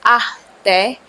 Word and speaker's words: ate: You can refer to them as ate, pronounced as ate, meaning older sister.